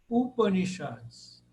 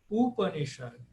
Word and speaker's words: Upanishad: de obras, né, chamadas Upanishads. Aí a quarta, de trás para frente, que é acentuada, porque todas aí são breves. Então, quando todas são breves, aí vou lá para o final. Upanishad. Upanishad.